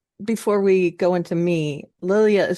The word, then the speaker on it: Lilja: Karen, can I before we go into me, Lilia is spelled L I L J A.